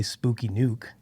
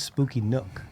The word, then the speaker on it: Spooky Nook: they had to know people were going to say spooky nuke maybe it's me just mispronouncing things again so no it is Spooky Nook Nook because every time they